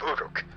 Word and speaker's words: Uruk: Oh, Uruk is how it's pronounced.